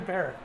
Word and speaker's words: Perrott: I say Perrott. Phonetically it should be Perrott, but I go with Perrott.